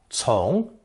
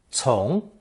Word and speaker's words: 从: It's pronounced second tone, 从, 从.